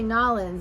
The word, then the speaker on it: New Orleans: stops in new orleans you gotta say nollins actually that's the right way to say it um i just know